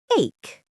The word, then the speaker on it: ache: Use the magic word ache. Ache. Yes, spelled A-C-H-E, but pronounced ache.